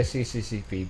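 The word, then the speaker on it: СССР: It's pronounced SSSR. What else? I say CCCP because that's what it says on the screen.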